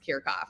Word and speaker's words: Kiracofe: my last name too no one would know that it's pronounced kirchhoff so happy to be here